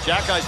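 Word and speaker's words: Xhekaj: Jacki's name in the back of his jersey, Shane. X-H-E-K-A-J, but pronounced Jacki.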